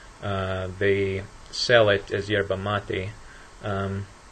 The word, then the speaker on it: yerba mate: in different countries but Argentina generally pronounced sherba mate even though it's uh spelled with a y so other Spanish speakers might say yerba moving on from the